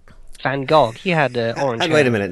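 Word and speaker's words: Van Gogh: think uh Vincent F van go he had wait a minute now how do how do you say name correctly please it it sounds like you're about to vomit V van can you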